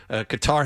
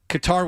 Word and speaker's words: Qatar: Qatar had no chance but yeah it was it uh got challenged from behind.